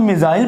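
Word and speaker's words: missile: ए मिसाइल, इसको मिजल पढ़ते हैं, उर्दू में हम मिसाइल पढ़ते हैं, लेकिन इंग्लिश में इसकी प्रोनाउंसिएशन मिजल है।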